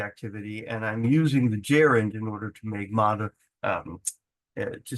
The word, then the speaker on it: gerund: Okay, so a gerund, pronounced gerund, is the verb of, or the acting as a noun.